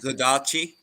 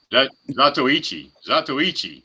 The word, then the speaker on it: Zatoichi: Zadachi. Yeah. Zadachi. Samurai. Zadachi. Zatoichi. That's what he's talking about.